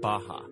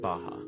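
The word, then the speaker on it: Barra: Out here in the west is a place called Baja. R's are pronounced like H in Portuguese.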